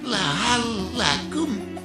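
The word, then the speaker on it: لعلكم: Gak boleh dibaca. Laallakum turhamun. Yang benar lahalakum turhamun.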